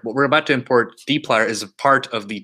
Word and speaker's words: dplyr: It's spelled D-P-L-Y-R. It's pronounced dplyr. Some people say dipler, and it stresses me out.